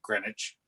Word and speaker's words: Greenwich: So they pronounced it Greenwich. So we do.